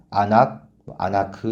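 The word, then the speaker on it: אֲנָךְ: 이 환상이 언어 유희 환상이라고 했는데 다림줄은 히브리어로 아나크 이렇게 발음한다고 합니다.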